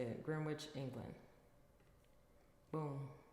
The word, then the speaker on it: Greenwich: That's how you say it, Greenwich, England.